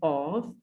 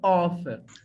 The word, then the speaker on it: of: the left pronunciation is off but when you write the word like o f the principle pronunciation is off but of pronunciation is of not off okay so we'll check